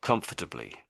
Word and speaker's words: comfortably: So comfortably, comfortably, comfortably. So I'm sort of saying all of the syllables there, but they're really rushed.